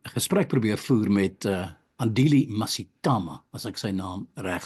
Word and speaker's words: Mngxitama: Yes, my name is Andile Mngxitama. It's got those clicks which we inherited from the Khoisan. That's the sound.